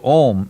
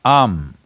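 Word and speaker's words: Aum: Because you're Omarion, there is also Ammeri, it is not to be said as Om, it is Am. It is just three sounds.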